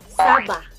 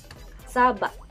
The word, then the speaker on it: saba: Third is saba. Saba. Saba. Saba. Pero magkaparehas po sila ng spelling but mag-different in pronunciation.